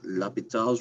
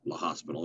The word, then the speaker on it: L'Hôpital: All right, chapter 9, sequences, L'Hôpital's rule. That's how you say it, by the way, or La Hospital, as my students like to say.